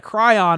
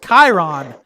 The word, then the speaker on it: Chiron: the do you call it a cry on it's pronounced Chiron there's two different pronounce